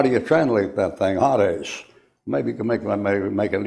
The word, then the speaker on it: Hades: And that's a long A in there, a Hades, like that.